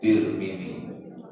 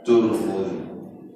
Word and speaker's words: Tirmidzi: Hadis riwayat Tirmidzi. Boleh juga dibaca Turmudi, boleh juga dibaca Tarmizi. 3 cara membacanya: Tarmizi, Tirmidzi, Turmudi.